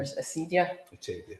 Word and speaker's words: acedia: But I suppose the biggest one, and I'm going to mispronounce it, is his sense of acedia, or acedia? Acedia.